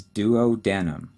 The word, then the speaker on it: duodenum: for those with you the first one is duodenum d-u-o-d-e-n-u-m duodenum the second and middle section is